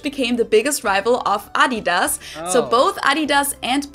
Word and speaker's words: Adidas: called Puma, which became the biggest rival of Adidas.